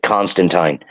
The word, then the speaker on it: Constantine: because I heard Neil pronounce it and he pronounces it Constantine so if you're not saying Constantine you're saying it wrong according to Neil gaming